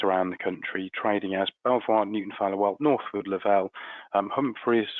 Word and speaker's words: Belvoir: They're nothing to do with us, and we pronounce the business, so we pronounce it Belvoir, much to the distress of the Duke of Rutland many years ago.